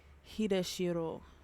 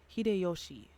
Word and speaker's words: 秀吉: Or Hideshiro. No. Okay, let me not stop pronouncing names, but Hideyoshi.